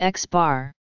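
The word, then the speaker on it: x̄: The arithmetic mean of a set of numbers x1, x2, xn is typically denoted by x, pronounced x bar.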